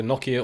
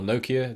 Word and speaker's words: Nokia: so what i used to work for for nokia or nokia depending on how you want to pronounce them um and you know you could